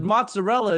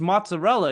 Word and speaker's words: mozzarella: bolognia Italy right but mozzarella is mozzarella it's not pronounced any other way right and that's people call it mozzarel which again infuriates me